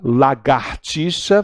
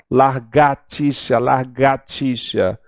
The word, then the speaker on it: lagartixa: A lagartixa, falam largatixa.